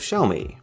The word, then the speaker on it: Xiaomi: So the way he described it to people was, if you want to say Xiaomi, then try and say show me, but say the show as if it was part of the word shower.